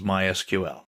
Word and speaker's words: MySQL: so what is MySQL well it's a version of SQL we'll talk about that in a minute people in the know don't say MySQL they say my SQL that's generally how it's pronounced in SQL is usually pronounced SQL SQL